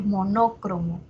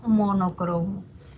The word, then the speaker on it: monocromo: Ahora, monocromo no tiene doble acentuación, o sea, no está bien decir monócromo, no está bien, sino monocromo.